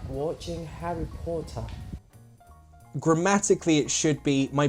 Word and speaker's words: Potter: the "O" sound in Potter The way you said it was a bit too long It sounded like Porter Should be Potter Potter very short sound otherwise, very good!